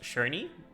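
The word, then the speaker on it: Černý: Since then, Bober, somebody does anybody know how this is pronounced? Shernney. Bober shurny. Bober Cerny has become one of the bestselling beers at both home and in bars.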